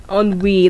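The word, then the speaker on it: ennui: is very special because if I spell it the pronunciation is different from the spelling a little bit so the word of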